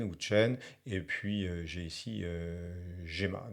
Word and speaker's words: Qwen: Donc ici, j'en ai quelques-uns, essentiellement DeepSeek, Qwen, je crois qu'il faut prononcer Chen, mais enfin, j'en suis pas très sûr. Donc Qwen ou Chen, et puis j'ai ici Gemma, donc c'est Google, hein.